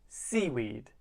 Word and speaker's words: seaweed: in that sentence right seaweed where is the stress on C or on weed it's on the first syllable seaweed with verbs we